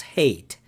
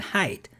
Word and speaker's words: height: I learned from Alan that this English word height is not pronounced hate. 2 years ago, I always pronounce it width and hate, but now it's width and height.